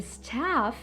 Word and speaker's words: staff: The staff через «а» читается, окей?